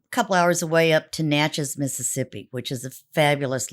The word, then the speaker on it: Natchez: just um a couple hours away up to Natchez Mississippi which is a fabulous little town is